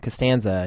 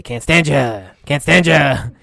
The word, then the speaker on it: Costanza: But what actually makes it into the script is George Mr. Heyman would purposefully mispronounce his last name, Costanza. He'd say, Cantstandya.